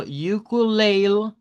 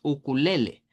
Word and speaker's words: ukulele: A veces lo dicen como ukulele, ukulele, sin pronunciar la E del final, y haciendo aquí la E.